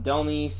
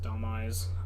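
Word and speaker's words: Dhelmise: well um Thriller taking Del or Delise however you want to pronounce it I pronounce it Delise um gives him a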